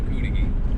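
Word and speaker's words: Cudighi: in a video, YouTubers, that told me I was saying Cootagee wrong. I lived up there my whole life. That's not how it's pronounced. I haven't heard any Youper call it anything but a Cootagee. Apparently I was stressing the wrong syllable in this person's opinion.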